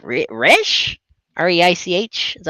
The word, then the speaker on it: Reich: R-E-I-C-H?